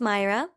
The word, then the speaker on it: Mayra: only because I'm Hispanic my name is pronounced Mayra and it's spelled ma